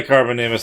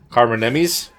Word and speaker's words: Carbonemys: I'm sorry, Carbonemys. That was not on purpose. Carbonemys? I listened to the dossier not long ago and I knew I was saying it wrong. That's better.